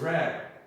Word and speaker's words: read: O que acontece, galera, é que o verbo to read, né, apesar de se escrever igual, na hora de pronunciar é diferente. Então se eu quero falar que eu leio livros, I read books. Agora, se eu quero falar que eu li um livro, I read a book.